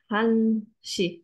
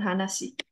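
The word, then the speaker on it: 한 시: Bukan Hana ya, ini Han. Han Shi, bukan Hana Shi.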